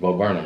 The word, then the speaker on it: Bo Burnham: It's Bo Burnham, right? Yes. Because I kept on saying Burnham in the last other videos, and nobody never told me. You know what I'm saying? Y'all kept on letting me say Burnham.